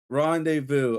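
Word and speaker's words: rendezvous: The Z and S is Oh, no. Rendez Vu, they're silent.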